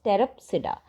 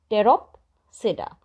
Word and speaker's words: Pteropsida: And the fourth and the last one is Pteropsida. Pteropsida. Okay, Pteropsida, in which P is silent.